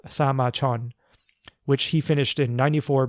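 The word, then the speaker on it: 사마천: In Korean, it's pronounced Sama Chon, which he finished in 94 BCE.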